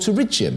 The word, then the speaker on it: pterygium: This disease is called pterygium. It's spelt with a P, rather like pterodactyl.